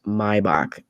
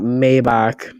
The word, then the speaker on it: Maybach: to be called but it actually is my bach not maybach or maybach but it's my bach so for those of